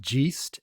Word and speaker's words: GEIST: happens through the Gast International Foundation it is pronounced Gast and it stands for the global Educators Initiative